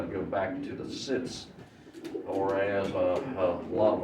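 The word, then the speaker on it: Sitz: the way it's wrote, they want to say seats. Sit. Sits. So if you ever watched any German competing, you will see there's not a single German that says seats. He says sits.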